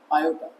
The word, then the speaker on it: iota: It is actually Iota roo<unk> over -1 is denoted by I in which is a Greek letter and it is pronounced as iota.